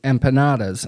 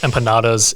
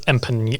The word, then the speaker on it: empanada: good I accidentally pronounced empanadas empan like the end with the squiggly line over here again just I'm not